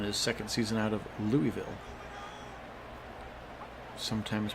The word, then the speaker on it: Louisville: Goro now in his second season out of Louisville, sometimes pronounced Lewisville.